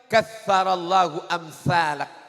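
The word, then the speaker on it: كثر الله أمثالك: Kalau ketemu dengan orang baik, katsarallahu amsalak. Katsarallahu amsalak. Pakai tha.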